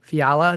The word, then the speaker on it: Fiala: Uh, today my guest is a Lewis Central standout, Cassidy Fiala. Did I pronounce that correctly or is it Yeah, I did pronounce That's awesome because I usually screw things up like that.